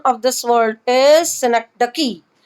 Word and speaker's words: synecdoche: interact with the person right so the correct pronunciation of this world is synecdoche right what is it this is a package